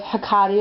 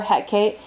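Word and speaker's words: Hekate: i also work with hakati or heck kate depending on how you want to pronounce her name um ishtar let's see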